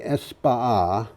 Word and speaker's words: España: You've got to pronounce España.